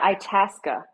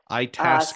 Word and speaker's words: Itasca: So, yeah, let's move on to the final movement, which is, oh, can you help me with the pronunciation? Yeah, Itasca. Itasca.